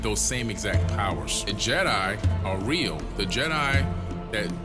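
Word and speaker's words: Djedi: in ancient KET and they're spelled d j e d i Jed and they're pronounced Jedi and he took that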